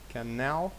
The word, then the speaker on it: canal: Canal. Canal. Canal. Canal. Чи canal. Буде canal. Canal. Наголос на другий склад.